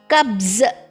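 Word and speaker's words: क़ब्ज़: Kabz, okay, kabz. Remember the dot? Yes, the dot, small dot is beneath. It gives that z pronunciation to the j.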